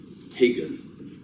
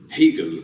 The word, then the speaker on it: Hegel: Hegel, this is the German pronunciation. How do you say it in English? Hegel, with the H is not as present as in German, but Hegel. And in French, we say often Hegel.